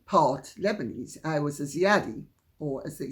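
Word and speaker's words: Ziadie: they say in Jamaica, a Zaidi, or as they say over here, a Zaidi as well, or sometimes a Ziadi. In fact, when I'm giving my name over the phone, because it's phonetically closest in English, I say Ziadi, but it's...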